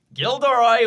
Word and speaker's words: Gilderoy: the ticket of course gilderoy will Ur but the ildy is silent okay interesting we seem